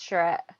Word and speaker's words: charrette: Yeah, you pronounced it correctly, it's charrette. So what we've found when it comes to community engagement is who is doing the engaging.